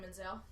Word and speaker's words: Menzel: actual name is Adena Menzel spell that I iael yeah well menel is Menzel is how it sounds d i n everybody